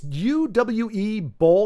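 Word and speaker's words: Uwe Boll: yep yep UA B I don't know how to pronounce his name uh OU or UA it's UWE bow he he is like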